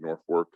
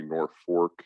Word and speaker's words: Norfolk: with the city of norfolk yes you're hearing me say nor fork and not nor folk as in virginia or england there's a reason for